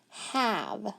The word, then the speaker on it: have: a v e but listen that's a short a normally when we have a consonant e it's usually long but this is a rule breaker and it says have